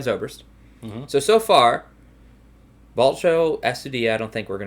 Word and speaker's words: Astudillo: It's tough because I think Willians is the L. Correct. And then Astudillo is a Y.